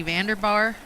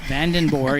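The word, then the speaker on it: Vandenboore: And she said, "Yep, van like the vehicle and den and then boore."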